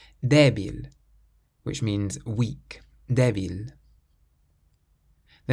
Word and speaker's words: débil: This next word has an accent over the E, so we pronounce it débil, débil, which means weak, débil.